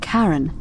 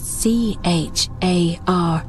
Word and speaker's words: Charon: Only your pronunciation is a little off. The name you heard wasn't Karen. It was C-H-A-R-O-N, as in Charon, the ferryman of the dead.